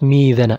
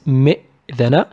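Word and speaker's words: مئذنة: It's not ميذنا, it's مئذنا. And in the end we find شاطئ, شاطئ.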